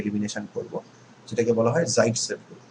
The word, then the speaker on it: Zaitsev: So that's a regioselective reaction, and this rule, this trend was first observed by Russian organic chemist Alexander Zaitsev, whose name is also sometimes pronounced as Saytzeff.